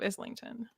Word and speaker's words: Islington: in neverware like there's the angel of Islington and like that's how it's pronounced the angel of Islington maybe Neil Gaiman says